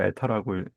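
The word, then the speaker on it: η: N처럼 생긴 거 에타라고 읽죠.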